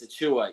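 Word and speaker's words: Achiuwa: mocking me about not saying a Chua it's a Chua yes but I just say precious all the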